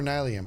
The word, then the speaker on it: nylium: Do you pronounce it ni or nylium? I say nylium.